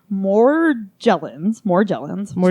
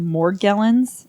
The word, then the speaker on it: Morgellons: Morgellons disease. I looked it up. It is the hard G. But I did watch a news report from Inside Edition where they called it Morgellons.